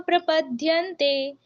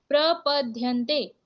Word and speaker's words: प्रपद्यन्ते: इसको पढ़ना कैसे है तो सबसे पहला जो वर्ड है उसको कैसे बोला गया है ये यथा माम प्रप पद्यते प्रपद्यंते ठीक है ये यथा माम प्रपद्यंते उसके बाद ताम्स ताम्स